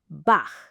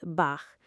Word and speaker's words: Bach: I have been saying Bach like Bach beer. That is not Bach. Try this. Make a C- sound at the very back of your throat. Now, instead of fully closing, keep a small gap and let air through.